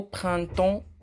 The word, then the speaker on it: printemps: Au printemps, on n'a pas prononcé les deux dernières lettres P et S.